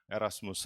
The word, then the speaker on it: 에라스무스: 이유는 뒤에서 설명 드리겠지만 고전 라틴어 바른 그대로 읽어서 에라스무스 라고 저희는 고집하고 있습니다 국립국어원이 표기를 바꿨으면 좋겠는데